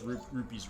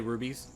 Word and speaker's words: rupees: about those zelda games they don't pronounce rupees right they say rubies yes you do yeah